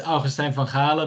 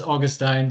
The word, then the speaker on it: Augustijn van Galen: So the Dutch pronunciation for those interested is Augustijn van Galen, but the anglicized version of that is Augustine.